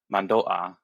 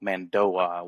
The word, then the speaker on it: Mando'a: Like when you say mandoa, you uh you don't go mandoa with like a w like gliding in there. You stop at the mando and then ah mando.